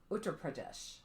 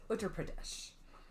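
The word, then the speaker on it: Uttar Pradesh: the galon district of UT Pradesh that one had a pronunciation guide oh I could hear it utter Pradesh it's in north central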